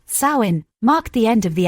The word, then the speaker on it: Samhain: Harvest festivals like Samhain, pronounced Samhain, marked the end of the agricultural year for the Celts.